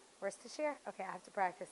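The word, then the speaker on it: Worcestershire: but now it's like worchester sauce i know you're talking about it i used to what words to share that's how you say it worse to share okay i have to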